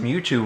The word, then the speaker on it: Mewtwo: Bill Trinen pronounced Mewtwo really weird.